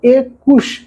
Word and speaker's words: একুশ: যেমন এখানে কু, এই কুটা উচ্চারণ করতে একটু লম্বা সময় লাগতেছে, মুখের কোথাও না কোথাও বাধা পাচ্ছে, এই জন্য এ কুশ, এর উচ্চারণ এই হবে, তার মানে এ কুশ, একুশ।